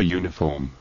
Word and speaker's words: uniform: A uniform. A uniform. ¿Y por qué? Si comienza por vocal. Como en este caso, en estos casos. Pues porque la pronunciación uniform se considera consonante.